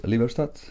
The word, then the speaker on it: Liberstad: Am I pronouncing it right, guys? Yes, LIBERSTAD, yes.